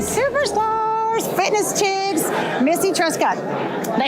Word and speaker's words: Truscott: All right, so here at the athletes meet and greet with one of the superstars stars, fitness chicks, 𝗬𝗫cie Truscott.